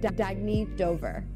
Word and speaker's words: Dagny Dover: Oh, it's pronounced Dagny Dover.